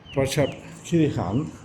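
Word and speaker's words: Prachuap Khiri Khan: Porchep Kirhan that's how they pronounce it locally. Praep Kirhan is uh the provincial capital of the province of Praap Kirhan.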